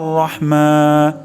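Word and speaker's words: الرحيم: সর্বোচ্চ সতর্কতা অবলম্বন করব তাহলে হা উচ্চারণ হবে গলার মাঝখান থেকে যেমন আরহ অশুদ্ধ উচ্চারণ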